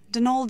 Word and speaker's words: Donal: Not Donald, mind you. There's no D at the end, so it's pronounced Donal. That's the way you're supposed to spell it, which is to say that's the way the Irish spell it.